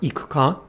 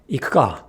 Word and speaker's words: 行くか: But it's not true, which is why the phrase wanna go, said quickly, is not ikuka, but ikuka. Note the difference. Wrong. Ikuka. Right.